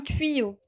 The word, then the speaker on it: tuyau: Ensuite, un sapin, un tuyau. Alors vous voyez ici, nous avons le Y qui a le son à la fois I et I, tuyau.